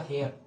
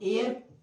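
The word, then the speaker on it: heir: इसको हेयर ना पढ़ के हम एयर, इसका उच्चारण क्या होता है, सही है एयर, तो हेयर को काटेंगे, उच्चारण क्या होगा एयर।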